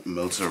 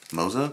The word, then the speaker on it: Moza: here we have some Moosa racing mosa Moosa some people pronounce it differently some mosa Racing stickers